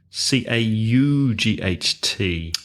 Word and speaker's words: caught: and verbs like court CA ug HT ah so one is with o brought and one is with a caught but the pronunciation is the same exactly the pronunciation is